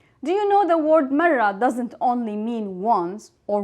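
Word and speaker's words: مرة: First, let's see how to pronounce the word marra. We will start with the ma, ma, and then we will have the ra 2 times because it has shadda.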